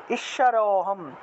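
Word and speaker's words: ঈশ্বরোহম্: চাপরানপি চাপরানপি ঈশ্বরোহম ঈশ্বরোহম এই যে র র উচ্চারণ করলে অ আসে এই অটাই টান দিয়ে বলতে হবে এক টানে বলতে হবে ঈশ্বরোহম ঈশ্বরোহম এই যে হ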